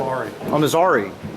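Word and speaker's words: Armizare: Armazari.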